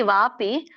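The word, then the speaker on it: ವಾಽಪಿ: ಇದೆ ಎಂ ಎಂ ವಾಪಿ ಇಲ್ಲಿ ವಾಪಿ ನೋಡಿ ಅಲ್ಲಿ ಅವಗ್ರಹ ಇದೆ ಎಸ್ ಸಿಂಬಲ್ ಸೋ ಅಲ್ಲಿ ಅ ಹಚ್ಚಬೇಕು ಹಾಗಾಗಿ ವಾಪಿನ ಬಿಡಿಸಿದಾಗ ವಾಪಿನ ಬಿಡಿಸಿದಾಗ ವ ಅಪಿ ಅಂತ ಹೇಳಿ ಆಗುತ್ತೆ ಸೋ ವಾಪಿ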